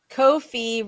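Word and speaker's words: Ko-fi: there we go uh Kofi rhymes with noi okay all right all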